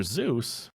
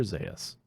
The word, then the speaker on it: Zaius: Dr. Zeus? No. Dr. Zaius. Dr. Zaius, that's how you say it.